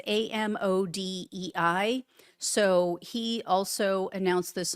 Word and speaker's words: Amodei: And his name is, I think it's pronounced Mark Amadei. It's Amodei.